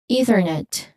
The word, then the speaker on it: Ethernet: Next we have Ethernet. Ethernet. One more time. Ethernet. There's a soft unvoiced th sound here. Excuse me for that. I'm sorry. Going back. It's Ethernet. Ethernet again.